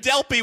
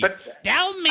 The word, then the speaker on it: Delpy: Wait, even more important, you're going out with Julie Delpy? That's what he really wants to talk about. Delpy. What'd you call her? Delpy with a P. Delme.